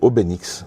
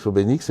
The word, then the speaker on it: Obénix: Goscinny, donc j'ai fait Obénix, avec un N. Alors c'est pas facile à prononcer, parce que des fois c'est Obélix, c'est un N, c'est Obénix avec un N.